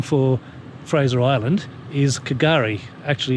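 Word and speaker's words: K'gari: In fact, the Aboriginal name for Fraser Island is Kagari. Actually, it's pronounced Gari, and that means paradise.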